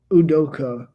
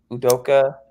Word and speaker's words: Udoka: But Ime Udoka, the head coach of the of why am I blanking?